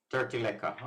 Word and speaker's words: Terteleaca: Terteleaca.